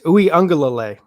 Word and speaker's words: Uiagalelei: kid coming in, DJ Uiagalelei. I think I'm getting better at saying his name first off, but I'll teach you how to say it. It's Uiagalelei.